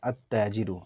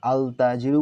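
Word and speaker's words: التاجر: দেখুন তা এখানে দেয়া আছে আততাজিরু আমরা কি আলতাজিরু বলি কখনোই বলি না। এই কারণে বলা হবে আত্তাজিরু তা আসসাবু দাল আদ্দিকু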